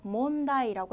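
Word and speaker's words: 問題: 아는 느낌의 환자인데요 문이라고 하는 발음을 읽으실 때는요 몽이라고 읽어요 그래서 문제라는 표현 묻는 문제라고 해서 몬다이라고 해 주시면 되겠고요 질문이라고 하실 때는 즈몽이라고 해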